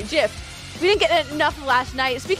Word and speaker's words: GIF: g d gift g before i is a soft g jiff we didn't get enough